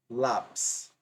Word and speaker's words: lápis: Lápis. Observe. A sílaba mais forte é a penúltima.